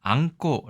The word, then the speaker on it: 餡子: 옆에 발음기호가 써 있죠 자 안고 라고 읽습니다 안고는 일본 말인데 그러면이 글자가 꼬에 해당하는 한자인가